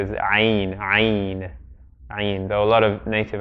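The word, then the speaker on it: عين: name of the letter, often people say like ayn, as if it's emphatic, but the most correct way to pronounce the name of the letter is ayn.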